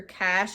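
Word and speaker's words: cache: keep your location services on um clear your cash as much as possible on your phone if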